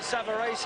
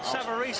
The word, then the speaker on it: Savarese: comeback trail against Lou Savarese, as we will call him. The Italians behind us are pronouncing it Savarese, and that'll do for me, Frank. Savarese, I believe, is the American pronunciation, but we won't worry about that.